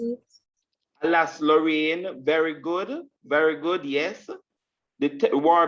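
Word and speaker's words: Alsace-Lorraine: The war between France and Germany for Alaska, Lorraine, if that's how you say it. Alas, Lorraine, very good, yes.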